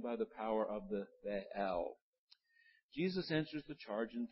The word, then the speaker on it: Baal: We used to call it Baal when you and I were growing up, the old god Baal. Now scholars say that wasn't right. It really has two syllables, so it's Baal.